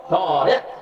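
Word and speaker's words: طارق: তা আলিফ রা কাফ, আর হলো তোয়া আলিফ রা বড় কাফ, কাফ যেটার গলার ভিতর থেকে যেটা উচ্চারণ করে না।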